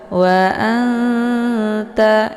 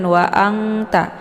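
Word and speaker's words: وَأَنْتَ: ta ya cara bacanya nunnya disamarkan siap-siap masuk ke huruf ta wa anta jadi nunnya tidak dibaca jelas juga tidak terlalu dengung jangan waangta jangan waan dibaca jelas juga jangan dibaca dengung wa anta ya tapi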